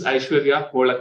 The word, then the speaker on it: Aishwarya: so uh last question uh your name is awar H yeah I'm pronouncing it right yes yes so uh where